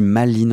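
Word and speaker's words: Malines: On dit Maline en français, si Google dit vrai.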